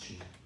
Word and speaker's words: qi: the mysterious life force cheat and it's q-i pronounced chief and the early way of writing qi was